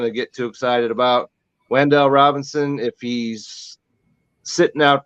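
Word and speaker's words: Wan'Dale: Well, the receiver for the Giants that I'm most interested in the OTAs is rookie Wendell. How do you pronounce it? Wendell Robinson. Wandale Robinson.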